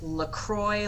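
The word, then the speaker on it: Lacroicsz: It's pronounced LaCroix, like the drink, but the last three letters instead of an X are a CSZ.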